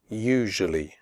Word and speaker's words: usually: adventure future nature usually the first you in usually is pronounced like the word you the S is pronounced like a shirt in television usually tough the word tough